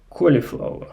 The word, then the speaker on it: cauliflower: So, and of course cauliflower, right? Cauliflower, because it has this CAU combination of vowels, and this AU usually sounds like O, automobile, audio.